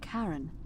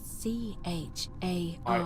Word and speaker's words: Charon: Only your pronunciation is a little off. The name you heard wasn't Karen. It was C-H-A-R-O-N.